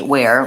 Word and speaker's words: ware: All of these just have the W, the A, and the where.